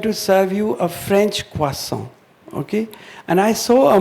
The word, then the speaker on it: croissant: तो मैं तुमको double croissants खिलाऊंगा. So I said, what is this, The aspiration of children in Kota to eat a bad, it's spelled Croissant. It's pronounced croissant in French, but, that they were